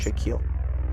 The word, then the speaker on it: Shaquille: Shaquille.